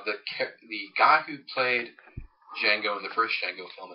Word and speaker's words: Django: your name he says Jango and U he ask how you spell it he says yeah my name the D is silent he says I know